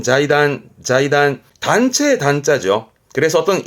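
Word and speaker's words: 財団: 발음은 자이단.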